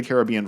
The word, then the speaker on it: Caribbean: That or the Pirates of the Caribbean franchise, and yes, that's the regional pronunciation. It's the Caribbean in all other circumstances, but the Caribbean while talking about pirates.